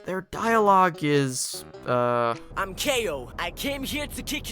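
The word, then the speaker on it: Kao: get cow the kangaroo so apparently it's not pronounced cow it's actually KO oh I see what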